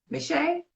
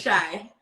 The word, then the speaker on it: M'Shai: Today we have special guest Michelle. Please tell me I'm pronouncing your name 100% correctly, and if I'm not, please correct me. You're like, no, it's Ugly. It's shy, but it's fine.